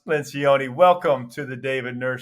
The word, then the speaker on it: Lencioni: Pat LENCIONI, or pronounced LENCIONI, welcome to the David Nurse Show, where we optimize for excellence.